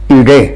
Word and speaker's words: ईडे: अग्निम ईडे, अग्निम अग्निदेव की, ईडे माने स्तुति करता हूं। ईड या कभी कुछ लोग ला भी इसका उच्चारण करते हैं, ईड़े भी कहते हैं।